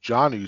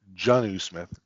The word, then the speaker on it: Jonnu: name is not pronounced John new Smith with a hard O It's pronounced junith sounding more like a u okay now that we